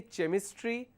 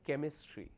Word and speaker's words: chemistry: make a mistake so even though I have ch at both the places the first one does carry the function of CH but the second example it carries the function of C we don't say chemistry we say chemistry likewise there are so